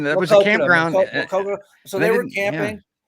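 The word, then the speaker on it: Maquoketa: is it Makita? Is that how it's pronounced? Well, what was that, Makokata? I mean, that was a Makokata, campground. Makokata.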